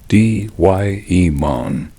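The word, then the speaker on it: daimon: Say it like D-Y-E-mon.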